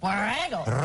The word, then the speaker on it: Borrego: I flip back and forth between rolling my R's and not rolling them because I don't do it very well. Yeah. How are you? You do it? What are you talking about? Borrego. Roll your R's and there you are.